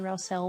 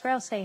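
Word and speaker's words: Ralsei: Someone pronounced Rousey Rousel once. I'm not that bad. It's Rousey how you said it.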